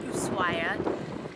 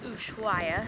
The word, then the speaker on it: Ushuaia: So as we're leaving Ushuaia, in the southern part of South America, and yes, it's pronounced Ushuaia, not Ushuaia, because in Spanish you don't pronounce the H, so that's one thing we learned.